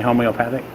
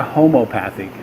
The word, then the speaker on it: homeopathic: This is a homeopathic, how do you say homeopathic? That's the right word, right? Homeopathic. Not a homopathic, a homeopathic. Homeopathic and homopathic are two different things.